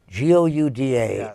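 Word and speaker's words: Gouda: that is beamster Holland guda oh gud da that I know is the correct pronunciation okay well I'll remember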